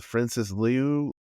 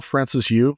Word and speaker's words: Francis Yu: I always say his name wrong, Francis Liu. Linnell Francis Yu.